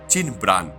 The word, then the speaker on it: চিন পিয়ান: king বা রাজা নন চীন পিয়ানের আরেকখানি উচ্চারণ চীন ব্রাণ এবং এই চিনব্রানের ইংরেজি রূপটাই হচ্ছে কিংবেরিং বা কিংব্রাং তাই চিন